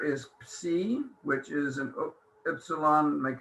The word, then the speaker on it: psi: the last letter is psi, which is an upsilon. Make an upsilon and put a line through it like a fork. Psi, P-S, ps, P-S. The letter is psi, and it's pronounced ps, P-S.